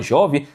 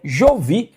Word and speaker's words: Jovi: Tem gente que fala jovem. Tem gente que fala Jovi, tem gente que fala Jovi, é Jovi.